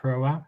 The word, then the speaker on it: Hroa: Also, the accent on Hroa is on the first syllable, not the second.